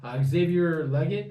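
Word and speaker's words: Xavier Legette: You've got Xavier Leggett, I believe it's pronounced.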